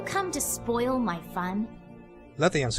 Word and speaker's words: Lethian's: to spoil my fun let the ants course in so that's so that's how it's pronounced not Latvians crossing well anyway she frowns